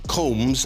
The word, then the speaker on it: Combs: It's spelt combs, as in a comb through your hair. It should be pronounced, if it was in Ireland, it would be combs. But here, the young folks say what, Isabel? I thought Coombs, so I checked with